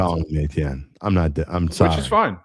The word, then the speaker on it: Etienne: Apparently, it's a dialect thing specific to Jennings, which is where he's from, where they pronounced Etienne Achan. I just wanted to educate the masses. Apparently, it's solely a Jennings thing and how they pronounce it.